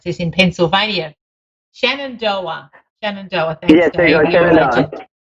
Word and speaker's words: Shenandoah: I've got Laurie in, Dave hasn't given me how to pronounce this, in Pennsylvania. Shenandoah. Shenandoah, thanks, yes, there Dave.